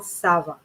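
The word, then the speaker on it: ça va: of an s rather than a hard c okay uh because c tends to be much more a harsher word so come on sava so you see i'm the sava all right so i'm pronouncing it much more almost like i have a snake in my in my mouth come on sava right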